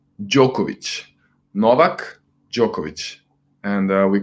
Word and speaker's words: Djokovic: courage Noack is the King how do you pronounce it it's Djokovic Djokovic Novak Djokovic and we call him nollie ok